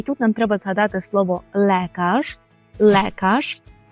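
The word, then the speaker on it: lekarz: про медперсонал і тут нам треба згадати слово лекаж лекаш - це лікар при вимові Зверніть увагу на буквосполучення ле яке ми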